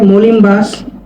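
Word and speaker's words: molim vas: মলিম ভাস। মলিমভাস। পানি দিনকে বলব ভদু। ভদু তখন বাক্য প্রয়োগ করলে ওই উচ্চারণ হবে না।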